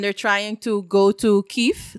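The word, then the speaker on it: Kyiv: trying to go to keefe that's the capital and i'm saying kiev a lot of the times you hear kiev but kiev is the russian pronunciation and kiev is the ukrainian pronunciation and um yeah i'm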